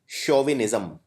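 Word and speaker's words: chauvinism: शब्द है show विनिस सी एच ए यू को हम प्रोनाउंस करते हैं शो शोविन एक शब्द सुना होगा आपने अंग्रेजी में शोविन ज्म शोविन ज्म से बना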